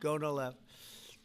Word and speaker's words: Gonal-f: most popular drug of all, the IVF drug, Gonal-F. So it's Gonal-F. Is that a proper pronunciation? Very Close well enough, done. right? Very well done. Gonal-F.